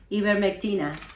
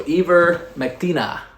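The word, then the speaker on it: ivermectina: the old ivermectin so how do you say it in spanish christina even mctina so ever maktina so it comes these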